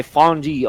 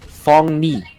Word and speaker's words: Fong Ni: Bosker want to go for the steal, but it was not secured, though, by Fonji on this Atlas. I hope I did not pronounce that incorrectly. Fong Ni.